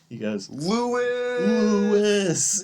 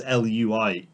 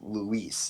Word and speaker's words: Luis: Leon, a brash American, mispronounces his name. Yes, he goes... Lewis! Yeah. Which is, sort of right, I guess. Maybe. I mean, I don't think that's the way you spell it. 'Cause No, I think or the way you say it. spelling is Lewis. Correct. Whereas his is Luis, so it'd be And I Luis. think that's Luis, yeah.